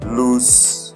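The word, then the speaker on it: Luz: And when it opens, you go to the search button of your browser and type Loose AI. Loose is spelled like L-U-Z AI.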